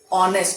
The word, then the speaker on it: honest: We say honest because H is silent.